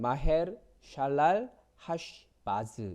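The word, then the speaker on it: 마헤르살랄하스바스: 아들의 이름이 뭐냐 면 마 헬 살 날 하스 바쓰 굉장히 길고 어려운 말이죠 그가 히브리어 발음으로 하면 마 헬 샬랄라 하 식 마스 입니다 같은 의미의 단어를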